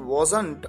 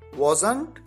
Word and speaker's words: wasn't: यूज कर सकते हैं, और इसे दो तरीके से प्रोनाउंस किया जाता है, wasn't या wasn't। यानी लास्ट में जो ट आता है, चाहे तो उसे आप बोलें और चाहे तो आप उसे न बोलें।